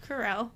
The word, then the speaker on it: Carell: Steve Carell. Carell. Say it with me. Carell. Carol. Say it like I'm saying it.